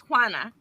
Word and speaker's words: Juana: Just when people ask, how do you say your name? It's Juana. Juana. Juana. Wah. Wah. Yes. No, think of These the are word olives. what. Think of the word what.